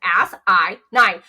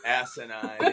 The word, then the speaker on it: asinine: I put ass-I-9. It's something that we would make fun of on a long drive, Alex, the way it's spelled. Yeah. ASSININE. Yeah. Ass-I-9. Asinine, yeah. Nine. S-I-9. Yeah, it's definitely like we